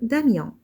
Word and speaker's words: Damien: Prenons le mot Damien. Dans ce mot, le son ion s'écrit avec 3 lettres, I, O et N. J'entends ion et je vois I, O, N.